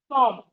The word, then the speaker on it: thumb: The B in thumb is silent.